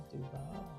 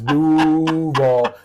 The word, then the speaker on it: Duval: But see, my husband doesn't like when I say Duval. Because that's not the correct way to say it. It's Duval.